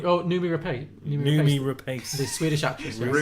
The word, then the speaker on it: Noomi Rapace: Rumi Pace? Is that how you say it? Noomi Rapace.